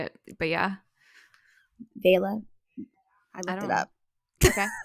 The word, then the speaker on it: vea: know that's how you say it but yeah vea I looked it up okay yeah um they